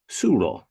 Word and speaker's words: Tsuro: today my guest in Africa please welcome Frank sulo Yay good day from Johannesburg in South Africa